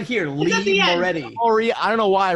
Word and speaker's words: Moretti: Am I pronouncing that correctly? Moretti.